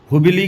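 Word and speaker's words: हुब्बल्ली: इसको स्वामी सिद्धारूढ़ भी बोलते हैं, सिद्धारूढ़ स्वामी जी हुब्बिल जंक्शन बोलते हैं। तो यहाँ पर 2015 में हुब्बिल की जगह नाम हुबली की जगह बदलकर नाम हुब्बली कर दिया गया था, हुब्बली।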